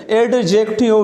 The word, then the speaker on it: adjective: एडजेक्टिव, डी is silent here. एडजेक्टिव we shouldn't से, we should say एडजेक्टिव. एडजेक्टिव वी ई, जब when the वी E comes so we should pronounce it just like फा. एडजेक्टिव.